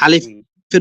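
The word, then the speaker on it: ألف: তো প্রথম যে অক্ষরটা, ভাই আলিফের পরে আপনার মাউসটা দেন, হ্যাঁ, ওই মাউসের প্রথমে। তো প্রথম প্রথম অক্ষরটার নাম হলো আলিফ। এতে কোনো টান হয় না, ঠিক আছে?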